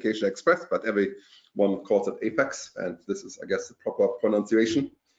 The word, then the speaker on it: APEX: Oracle Application Express is called Oracle Application Express, but everyone calls it Apex, and this is, I guess, the proper pronunciation.